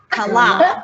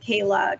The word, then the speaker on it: Kala: that it's technically pronounced Kala. Yeah, With the Kala. accent on the second A. It's so true. And so we, though, are lucky if people pronounce it Kala versus Kayla, Kala.